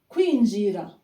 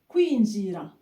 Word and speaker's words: kwinjira: Kwinjira. Kwinjira. Kwi. KW. Kwi. Kwinjira. Number 5, to exit.